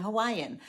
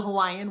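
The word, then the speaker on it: Hawaiʻi: It indicates a glottal stop of air, similar to when we say uh-oh in English. In fact, the Hawaiian word Hawaii has an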